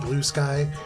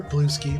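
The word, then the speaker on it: Bluesky: in Instagram threads and blue sky or blue ski depending on how you like to pronounce it um if you missed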